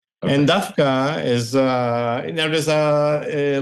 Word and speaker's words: דווקא: and we also dka pronounce it the way they pronounce it in Yiddish we say dka and not dka it's written it's it's